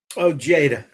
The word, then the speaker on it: Ojeda: Is that how you pronounce his last name? Oh, Jada. Ojeda.